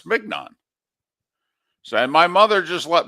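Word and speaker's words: mignon: rather have a ribby I grew up pronouncing it filet mnan I was very impressed with myself when I was like a seven or eight years old that I knew how to pronounce filet but I took a look at it m g n o n oh it's mnan so my mother just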